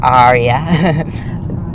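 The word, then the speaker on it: Ariya: Aria or Aria? Aria. If you think like a pirate, like R, it's Aria. Like Aria. That's the best Aria. one. That's how I remember it.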